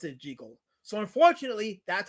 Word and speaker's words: Jekyll: It really was meant to be pronounced Jigal and as KSS confirmed it, Robert Lewis Stevenson pronounced it Jiggle. So unfortunately that's how you pronounce his name. This whole juggle business is a modern interpretation.